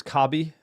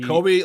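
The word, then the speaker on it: Kobbie: So, I know people think it's KBI and it's not. He Kobe like Kobe Brian.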